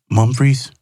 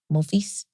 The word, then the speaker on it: mon fils: Did you say Mumfries? No, my son. I'm saying mon fils. It's French. Yes. You whisper in case you were wrong. Yeah, it's French.